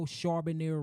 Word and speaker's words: Charbonier: 660 Charbonier Road.